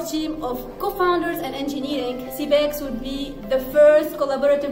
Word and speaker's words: Seabex: Sans plus tarder, il y a CBEX, hein, ça se prononce comme ça, la startup.